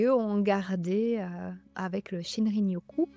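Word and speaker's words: shinrin-yoku: ont gardé avec le shinrinoku si je le prononce correctement tout à fait shinrinokou la pratique des bains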